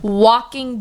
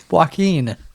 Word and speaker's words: Joaquin: It sounds like you're saying walking Buckley. Joaquin.